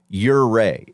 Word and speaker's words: Ouray: Yeah, it took me probably about 7 people of me pronouncing it wrong. They were like, Ouray. It's like your Ray.